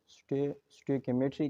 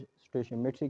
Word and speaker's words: stoichiometry: तो कुछ लोग इसको स्टोइकियोमेट्री कहते हैं, कुछ स्टोइचियोमेट्री कहते हैं। तो बात ये है कि दोनों ठीक है।